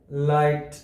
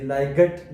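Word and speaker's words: light: یو واول توری دی لہذا دا لغت لایټ تلفظي لایګټ نه ویل کیږي بل مثال که وګورو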